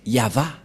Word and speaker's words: Yahvah: prononciation de ceci c'est yava voilà la prononciation de ce terme lorsqu'on le prononce en